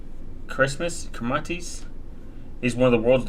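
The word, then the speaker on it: Kiritimati: its phonology in which the combination t is pronounced is kmatis Christmas kmatis is one of the world's largest atolls in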